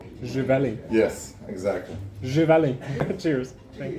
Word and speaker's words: Živeli: Živeli. Živeli.